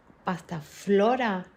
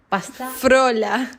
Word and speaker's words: pasta frola: Martín is telling me your family says pastaflora not pastafrola because there is but